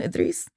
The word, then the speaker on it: Idris: inspiration in my son, Idris. Mhm. And he, That's his name? Idris, yeah. Wow. He openly, That's a nice name. oh, thank you. Kind of like a Idris Elba, and same pronunciation.